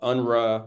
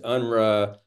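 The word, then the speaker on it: UNRWA: um war in Gaza about unra which is I think the way you pronounce the UN relief and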